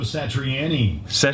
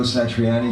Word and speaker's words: Satriani: Joe Satriani. Guitar feedback. Wait, have I been saying Joe's last name wrong my whole life?